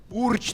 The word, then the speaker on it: URJ: want to appeal to "Uriji" team, my brother Mikhail works at a funeral home. And on the 29th he will dig a grave for another "Uriji" team fighter It's URJ team, say it correctly I have a question